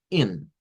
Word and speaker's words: in: Tenemos, por ejemplo, la palabra in, in que es para eh entrar in no es in porque ahí es muy largo.